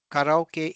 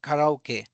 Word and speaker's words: karaoke: Conversely, if you pronounce karaoke in English, no Japanese person would understand it. So in Japanese it is called karaoke, and in English you will say karaoke.